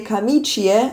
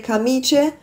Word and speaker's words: camicie: la camicia, le camicie, aber das I bleibt drin, wird aber auch nicht betont. Also es heißt weder la camicia noch le camicie, es heißt la camicia und le camicie, aber wie gesagt, das